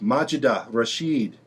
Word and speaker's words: Majida Rashid: Majida Rashid.